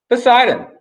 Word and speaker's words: Poseidon: Poseidon. That's how you say his name in Greek down here.